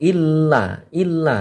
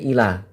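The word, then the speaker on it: إلا: Jadi untuk membacanya ini ditekankan. Seakan-akan lamnya ini ada 2. Illa, tidak boleh ila.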